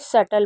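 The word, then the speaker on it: subtle: जैसे डाउट डेप्ट और जैसे सल वैसे इसे इसमें बी भी साइलेंट होता है तो इसे सटल पढ़ते हैं।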